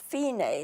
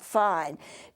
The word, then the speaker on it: Fine: it says F I and II but it's pronounced fein a not fine dsl fini means you go back to the